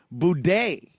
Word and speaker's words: Boudet: Okay, so you use the French or New Orleans style pronunciation. Nolans. Right. Boudet. That's right.